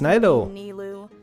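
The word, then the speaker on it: Nilou: on my lady does this friend oh it's nilo that's how you pronounce her name every day the nervous look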